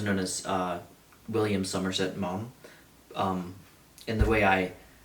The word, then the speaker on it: Maugham: Um, uh, I'm not going to spell it out for you cuz I'm going to butcher it, but it is pronounced mom. So, like, uh, mom or dad.